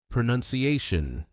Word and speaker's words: pronunciation: It's noon, not noun.